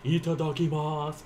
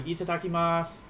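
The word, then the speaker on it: いただきます: watch it subtitled yeah the u tends to be very silent i kind of like the how i especially in like she like uh can be silent sometimes as well so itadakimasu like whenever i think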